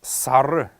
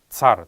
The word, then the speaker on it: сар: родной язык, они говорят цар, цаган-цар, например. Правильно говорить это слово сар, потому что в тудобичик оно писалось как сара, где последний неясный гласный должен давать особый звук, поэтому не сар, а